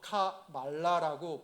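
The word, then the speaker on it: Kamala: 때 그 얘기해 주더라고 여러분 조심요 카멜라가 아니라 카라도 아니래요 아이들이 나와서 카 말라라고 발음을 하라고 아이들이 계속 얘기를 해주더라고요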